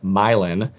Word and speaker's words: Milan: hats this is a milin it's spelled Milan m i l a n but it's pronounced milin this is a braided